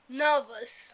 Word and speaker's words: nervous: র এর পরে যদি ভ থাকে, ভটা একটা কনসোনেন্ট সাউন্ড, তাহলে ব্রিটিশ ইংলিশে কিন্তু রটাকে আর তারা উচ্চারণ করবে না, রটাকে তারা সাইলেন্ট রেখে দেবে। তাহলে কি okay, উচ্চারণ করবে? nervous, again nervous, again nervous, again nervous, again nervous, নার্ভাস।